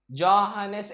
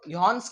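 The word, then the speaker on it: Johannes: जोहानेस ऐसा आपको pronounce नहीं करना है, एक्चुअली इसका प्रोनाउंसिएशन मुझे भी ठीक से आता नहीं, हम इसको यॉन्स केपलर बोलते हैं, इन सर को हम यॉन्स केपलर बोलते हैं, सर यॉन्स केपलर, नहीं तो सर हांस केपलर वगैरह वगैरह, ठीक है।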